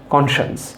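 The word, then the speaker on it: conscience: এইটার exact pronunciation হচ্ছে কনশান্স, কনশান্স, কনশান্স, কনশান্স, কনশান্স।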